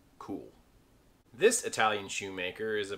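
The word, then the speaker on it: Kühl: This brand name most people don't even try to pronounce, but it's pretty easily pronounced as Cool.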